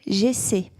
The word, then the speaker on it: j'essaie: How do you pronounce this, by the way? J'essaie.